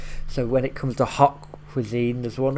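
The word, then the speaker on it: haute: when it comes to hot Cuisine there one f word France so but she said hot is in ha u t I believe it's spelled um but that's like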